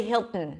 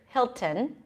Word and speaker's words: Hilton: forgotten Hilton that's okay you're supposed to say Hilton most Americans do say it but British speakers will pronounce the T here Hilton and if you say